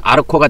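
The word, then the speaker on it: ἄρχω: 그래서 이것이 어 의미가 조금씩 차이가 있어요.이 이 알코 또는 아르코이 니를 흘려서 발음으로 아르코가 되는데 알코마이 이거는 위에서 다스리는 지도자로서의 통치하는 그런 거를 의미합니다.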